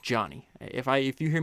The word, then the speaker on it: Jony: keep wanting to say Joanie. So, I don't know if I've made that mistake, but his name is pronounced Johnny. If I if you hear me mispronounce it Joanie, it's just cuz I can't pronounce any word correctly.